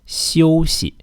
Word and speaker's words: 休息: Yeah, it's 休息. 休息. So really the tricky part is the X. The X is pronounced like 休息, 休息.